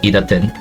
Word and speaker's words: idtn: Yes, that's how his name is pronounced, idtn.